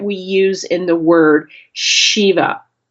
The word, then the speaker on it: Shiva: It's the same letter that we use in the word Shiva. Say that Shiva. Shiva is the lord of destruction. And if you pronounce his name without the h sound, it sounds like this.